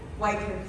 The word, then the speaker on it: Wycliffe: John llegó otra vez, a ver si lo pronuncio en inglés o en francés. Wycliffe. Wycliffe.